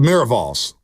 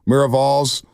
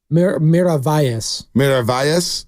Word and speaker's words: Miravalles: The Miravals. Hopefully, I'm saying that right. Miravales. Miravalles. Miravalles. Yeah. Is that what it is? Okay, I'm sorry. Double L is a yes.